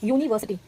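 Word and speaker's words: university: यूनिवर्सिटी, यूनिवर्सिटी को हम यू से लिखते हैं, UNI यूनी VERSTY यूनिवर्सिटी। यूनिवर्सिटी को हम यू से लिखते हैं लेकिन उसका प्रोनाउंसिएशन हम यूनी य से करते हैं और यह एक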